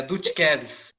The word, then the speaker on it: Dutkevis: né então muitos se confundem na hora da pronúncia mas é dutkevis descreve é eu fiquei na dúvida olha assim